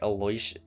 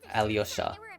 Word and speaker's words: Alyosha: In the trailer, it's pronounced like Alosha or something. In the pronunciation videos, they were pronounced as like Alyosha.